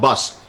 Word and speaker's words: Busardo: Not Busardo? No, it's exactly the way it's spelled. Busardo.